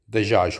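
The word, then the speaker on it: دجاج: जीम को अरबी में य की तरह प्रोनाउंस किया जाता है, इसलिए ये दजाश होगा.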